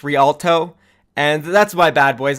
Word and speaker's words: Rialto: name of the map I was saying rat aldo or Rotolo but it's actually pronounced rialto and that's my bad